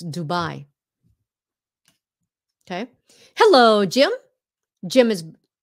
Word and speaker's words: Dubai: you know why because Dubai is pronounced the way the Vietnamese would pronounce it Dubai now we know